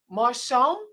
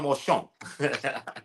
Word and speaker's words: Marchand: to say Marchand. Marchand. Yes, ma'am. Sounds Okay. We usually say Marchand, though. Oh, okay, But yeah, Marchand. that's the proper pronunciation.